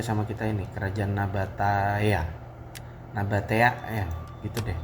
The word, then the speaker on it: Nabatea: Nabatea ya gitu deh bacanya.